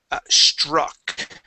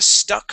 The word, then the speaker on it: struck: Okay, first word is going to be struck. Okay, make sure to pronounce that R here. You said an idea stuck her.